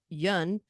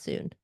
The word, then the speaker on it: Yun: you to say that Yun is pronounced like sun rhymes with sun so J so Yun not soon G is on a